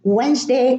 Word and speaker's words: Wednesday: So there is no D in Wednesday, in handsome, and in handkerchief.